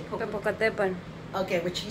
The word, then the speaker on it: Popocatépetl: Popocatépetl. Okay, what she said. Okay, I'm not good at my pronunciation, but there might be a UFO connection to it.